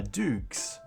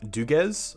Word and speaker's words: Doogs: Haha, Doogs. Kind of like, so my real name is, which rhymes with Google. So I guess if you take Google and just like Googs and then Doogs.